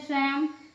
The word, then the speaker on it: स्वयं: का प्रयोग होता है जैसे स्वयं है ना सत्यम एवं बिंदी लगी हुई है अम की बिंदी लगी हुई लेकिन उसका उच्चारण क्या हो रहा है आधा म इसमें आधा म का उच्चारण हो रहा है आधा मा का उच्चारण ठीक है जैसे इसमें स्वयं न अंग याया नहीं लगा हुआ इसका उच्चारण नहीं आ रहा इसमें सिर्फ म का उच्चारण स्वयं य आधा सत्यम एवं ठीक